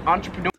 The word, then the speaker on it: entrepreneur: Or so, I've always pronounced this entrepreneur. In Australia, they pronounce this entrepreneur. So, like, entrepreneur.